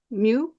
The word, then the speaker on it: mu: is the letter M the Greek pronunciation is Mu I'll get into decoding